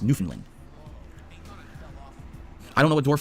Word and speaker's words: Newfoundland: The only part of Canada I've ever been to is Newfoundland, which is actually pronounced Newfoundland.